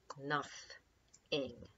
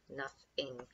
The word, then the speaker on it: nothing: it really comes here nothing nothing although it looks like the word no thing and we don't pronounce it no thing enough is close to